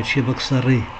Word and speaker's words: Чебоксары: стороны и каракас и и поскольку ударение на последний слог то вы не чебоксар ой а чебоксары я так думаю далеко